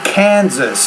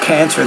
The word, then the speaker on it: Kansas: It's authorities in Kansas. It almost sounded like you said cancer there.